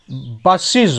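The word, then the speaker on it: buses: अब जब हम इसमें ई एस जोड़ेंगे बसिज हो जाएगा, बसिज, ज हार्ड साउंड, ज।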